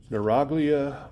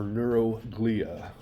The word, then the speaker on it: neuroglia: There are another type of cell called neuroglia or neuroglia. I've heard it pronounced both ways.